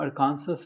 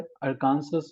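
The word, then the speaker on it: Arkansas: अर का एसस ये स्टेट का नाम अरकांसस है अरकांसस है अरकांसस इसे कहते हैं लेकिन कुछ लोग जो है व इसको सही से प्रोनाउंस नहीं कर पाते हैं इट अरकांसस अरकांसस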